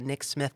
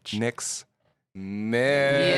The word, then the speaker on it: Nixmyth: Anywhere you listen to podcasts, it is the Nick Smith podcast, but it's spelled Nixmyth. And one more time. Nixmyth. Nick's Myth.